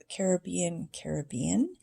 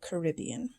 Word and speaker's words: Caribbean: Sometimes people pronounce Caribbean, and sometimes they say Caribbean.